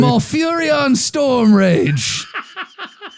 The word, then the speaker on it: Malfurion Stormrage: So I'm looking at Thrall versus Can you say his name again, please? Malfurian Stormrage. Did I do it right? That was perfect. That's perfect.